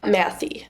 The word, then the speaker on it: Mathey: Now, tell me the correct way to say your last name because I don't want to say it wrong. Matthew. Matthew. Okay.